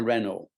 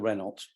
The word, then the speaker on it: Renault: um Bradley bought a Renault I don't know and in fact we used to call it a Renault because we we didn't know this French pronunciation with a tier band